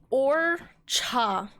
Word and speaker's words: horchata: Or cha, or so you don't pronounce the H, okay?